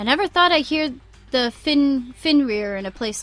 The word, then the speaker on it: Fenrir: Okay, Fenrir.